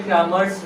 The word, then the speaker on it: Cramer: ठीक है, कोई भी प्रोनाउंसिएशन कर सकते हैं। उर्दू में उसको क्रामर पढ़ते हैं और इंग्लिश में क्रेमर्स। ग्रामर नहीं, क्रामर बोला। ग्रामर ऐसा CRAMER, क्रेमर या क्रामर।